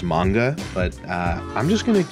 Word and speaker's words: manga: Also, as a side note, I do know in Japanese it's pronounced manga, but I'm just going to keep pronouncing it manga because that's how I've always said it.